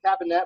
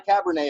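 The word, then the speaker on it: Kabinett: It's a cabinet, which means not a Cabernet, a cabinet.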